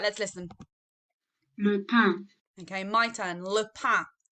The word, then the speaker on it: le pain: So it's a silent N sound at the end.